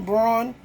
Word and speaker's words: Braun: to say what have brown what can Brown do for you Kristen Braun now his name is pronounced brown but I actually worked